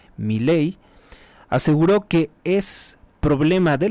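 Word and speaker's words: Milei: de Argentina Javier Miley Miley es como si llevara acento en la e Miley aseguró que es problema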